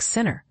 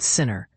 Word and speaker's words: Sinner: with a tennis professional whose name happens to rhyme with winner. Naturally, this sent tennis fans and gossip enthusiasts into overdrive, immediately connecting the dots to Janick Sinner.